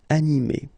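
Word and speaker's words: animée: don't pronounce it so phonetically you will get exactly the same form so masculine form anime and then a feminine form anime okay you don't pronounce this uh but then you should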